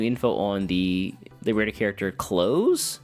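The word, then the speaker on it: Close: on the Liber character clothes who is spelled like closing the door c l o s e not like the clothes I'm wearing which I I thought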